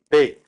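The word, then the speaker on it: 米: We use the character for rice, which is pronounced Bei, and we use that Bei Koku for rice country.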